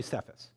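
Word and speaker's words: Cephas: nickname I'm going to call you sephus it's actually pronounced keas in Aramaic and it is an Aramaic term and then our author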